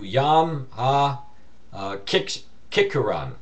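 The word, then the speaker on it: Yom HaZikaron: this holiday as a Yom, I'm going to pronounce it for you, Yom HaKikkuran, the Day of Remembrance, or many know it as Yom Teruah, which is Teruah.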